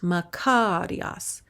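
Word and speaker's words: μακάριος: How it's pronounced, makarios.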